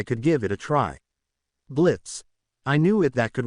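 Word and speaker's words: Blitzø: Hello, I'm Blitz. The O is silent.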